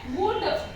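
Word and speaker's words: would: का यूज नहीं किया उसके बाद है वुड इसको बोलेंगे वुड देखो यहां पर भी हमारा एल क्या है साइलेंट है वैसे ही है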